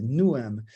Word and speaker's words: Newham: qui est, ah non, on ne prononce pas les H en Angleterre dans ces choses-là, c'est Newham, qui est disons, ce que